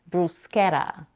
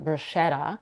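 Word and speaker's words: bruschetta: also a non-standard pronunciation Bretta where the letters SC are pronounced as sh but I personally prefer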